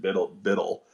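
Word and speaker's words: BUIDL: They pronounce it Biddle.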